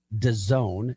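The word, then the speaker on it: DAZN: Should the acquisition by Daisen that's Done is how it is pronounced but it's D- AN.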